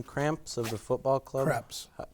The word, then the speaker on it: Kreps: Kreps. It's Kreps. Kreps. Kreps. It's phonetically correct. Kreps. K-R-E-P-S.